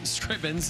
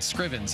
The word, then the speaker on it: Scrivens: young yang young yang Ben Scrivens Scribbins and net make that Scrivens and net for Canada and this one Ben Scrivens stripping's and net make